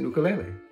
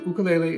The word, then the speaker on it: ukulele: ukulele this is an ukulele you may have heard this instrument called a ukulele but the ukulele is a Hawaiian instrument and the proper Hawaiian pronunciation is ukulele the ukulele was developed